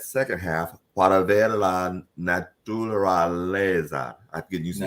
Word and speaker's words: naturaleza: You got to get used to 5-syllable words because they're not going anywhere, right?